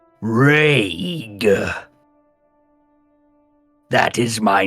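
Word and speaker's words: Raig: It uncoils and travels a distance away from you and turns its face towards you and it says Rage.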